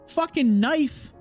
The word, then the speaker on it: knife: knife is spelled K N I F E. We don't pronounce the K.